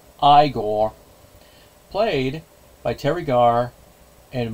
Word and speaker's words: Igor: our side characters they of course Inga and eigor oh wait wait wait my mistake my mistake it's pronounced igore played by Terry gar and Marty Felman respectively